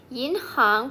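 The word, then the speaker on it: 银行: ที่ 7 นะ คะ ออก เสียง ว่า in หาง in หาง ยิน หาง แปล ว่า ธนาคาร ยิน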